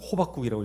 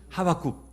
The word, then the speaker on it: 하박국: 제가 어릴 때 잘못 러고 가지고 호박국이라고 읽었었는데 호박죽도 아니고 하박국.